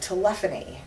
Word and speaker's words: telephony: there is an entire category of voice called telefony it's spelled telephony but telepan is very specifically any